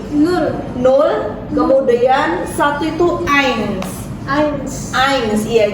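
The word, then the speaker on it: eins: ains ains ains Iya jadi ingat-ingat e i kalau dalam bahasa Jerman dia dibacanya Ai ya jadi diftongnya itu seperti itu dalam bahasa Jerman ei I dia dibaca Ai jadi Ain kemudian suai ingat-ingat Z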